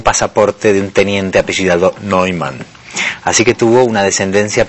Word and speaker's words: Neuman: Tenemos invitado de lujo, Andrés Neumann, como lo pronuncian en su familia, que nos presenta Hablar Solos.